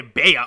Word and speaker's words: Bea: B-E-A. When two vowels go walking, one of them the first one does the talking, and the second one stays Jerry silent. fucking Seinfeld. Okay, so I'm gonna say Bea because it does not